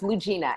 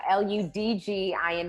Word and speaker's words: Ludgina: But right, the D is silent, so it's Ludgina, Ludgina, and the D is silent.